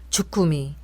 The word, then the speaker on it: 주꾸미: 메모했다가 알려 드리는 겁니다 함께 보시겠습니다 자장면 주꾸미 거꾸로 빈밥 관건 일손이 달리다 비뚤어지다 사건 사고 초간단 요리 미적 감각 세련 불법 주차 율법 헌법 이제 된소리로 해보겠습니다 짜장면 쭈꾸미 거꾸로 김밥